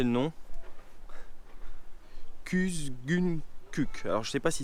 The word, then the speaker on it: Kuzguncuk: Kuzguncuk or Kuzguncuk? He, Kuzguncuk.